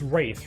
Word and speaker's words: wraith: new um uh wait it's wraith right not wrath yeah it's spelled with